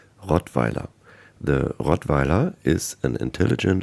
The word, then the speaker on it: Rottweiler: I'll pronounce it in German because it's a German dog breed, Rottweiler.